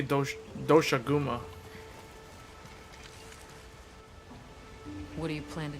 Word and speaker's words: Doshaguma: This is They really pronounce it going on ahead. Doshagama. I would say Doshaguma.